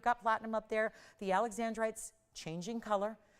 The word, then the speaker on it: alexandrite: Keep in mind, it is alexandrite, not alexandrite, just so everyone knows the pronunciation.